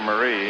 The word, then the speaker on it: Maris: 217 they kid Roger they give her French pronunciation his name Roche Marie and anything the song Rosemarie you know they want